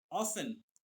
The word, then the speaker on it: often: My work as an accountant at a bank, often, OFTEN, ये often लिखा हुआ है बेटा, इसे हमेशा हम क्या प्रोनाउंस करेंगे? often, OFTEN, टी इसमें साइलेंट होता है।